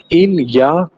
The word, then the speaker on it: il y a: इलिया का मतलब होता है देयर इज या फिर देयर आर. ओके, और इसका प्रोनाउंसिएशन कैसे किया जाता है. इसका प्रोनाउंसिएशन होता है इल या.